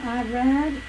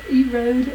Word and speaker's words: Irad: His first son, Irad, or Erod as it's pronounced in Hebrew, means fleet, a wild ass, a heap of empire, and a dragon.